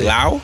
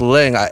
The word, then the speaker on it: Leung: Fuck, we can't pronounce Tony Lau? No, it's Leung, L-E-U-N-G.